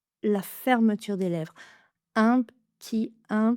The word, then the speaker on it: petit: Même chose que pour un petit peu, on va enlever le e de la première syllabe de petit. Un petit creux. Un p un p petit un p petit un p petit creux.